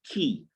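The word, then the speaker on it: quay: people key and key you'll notice that i pronounce the word q u a y as key it's actually pronounced the same way as k e y key so that's something that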